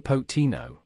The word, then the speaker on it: Pochettino: into the life of new Chelsea boss Mauricio pocatino now who is pocatino Mauricio Roberto pochettino trossoro Spanish pronunciation Maurice Joe potino born the 2nd of March 1972 is an